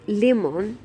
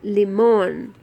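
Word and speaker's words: limón: This is an accent mark, and it means that when we pronounce the word, we have to put our accent or our pressure on this vowel. So instead of saying limon, where we are automatically putting the accent on the first I, we have to put it on this last vowel, limon.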